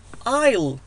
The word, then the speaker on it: aisle: aisle aisle aisle بمعنى ممر ممر. aisle الاس لا تلفظ.